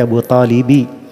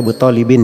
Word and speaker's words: Abu Talibi: Di situ dibaca Abu Talibi, tidak boleh dibaca Abu Talibin ya.